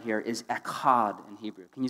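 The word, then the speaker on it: אחד: Well, you say it kind of like a Klingon. You know, like echad. Like, yeah, well, you just spit on the girl in front of you.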